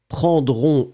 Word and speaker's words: prendront: Remember that phonetically, the nous form prendront, O-N-S, and the il, elle form for the plural prendront, O-N-T, are exactly the same. You write them differently, but you pronounce them exactly the same way.